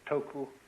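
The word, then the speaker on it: 徳: this word death uh the Japanese pronounce it toku the cantones duck and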